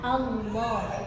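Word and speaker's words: الله: Dan nah ini yang sering terjadi kesalahan itu lamnya berubah menjadi wau. Allah. Heeh. Allah. Allah. Padahal di situ enggak ada huruf Allah. Alif lam lam ha. Iya kan? Jadi dibacanya Allah. Allah. Allah. Allah. Pakainya lam. Cuman lam di sini tebal.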